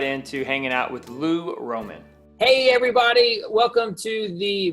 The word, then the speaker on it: Roman: say your last name Roman Roman well I mean there's an accent on the a but yeah I just say Roman Empire people get it a Roman Candle nice nice man so